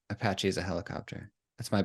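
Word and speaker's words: Apashe: Yeah, I think it's like the helicopter, because you used to have the helicopter branding. Apache is a helicopter.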